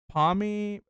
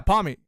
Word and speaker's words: Pawmi: Pawmi. But yeah, Pawmi.